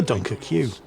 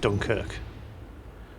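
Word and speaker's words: Dunkerque: slash battle cruiser, the Dunker Q. What? What do you mean it's pronounced Dunkirk? Look, if they want me to pronounce it Dunkirk, they shouldn't have spelled it Dunker Q, should they?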